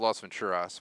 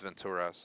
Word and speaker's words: Las Venturas: I like to call it Las Venturas, but it's Venturas as I heard in the game pronounced, so I've been mispronouncing that for 2 decades.